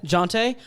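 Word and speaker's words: Jontay: I would probably add Jonte Porter. Is that how you say his name? Jonte? Yeah. Jonte.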